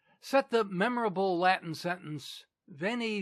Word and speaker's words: Veni: The Britons, however, who of course still use the old pronunciation, understanding him to have called them weenie, weedy, and weaky, lost heart and gave up the struggle.